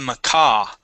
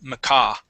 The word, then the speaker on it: macaw: So we have the crow and the macaw. Okay, so the stress is at the very end. Macaw.